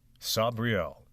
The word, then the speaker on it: Sabriel: Sabrielle by G. mix. And it it's definitely pronounced Sabriel.